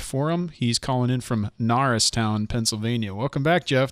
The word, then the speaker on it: Norristown: He's calling in from Norristown, Pennsylvania.